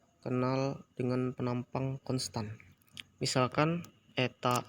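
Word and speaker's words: η: mempersamakan transportnya sebagai berikut ini teman-teman a ini dibacanya Eta Hai turunan terhadap diturunkan terhadap tiga ditambah beta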